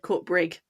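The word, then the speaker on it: Coatbridge: He was from Well, it's spelled Court Bridge, isn't it? But he said Court Brig.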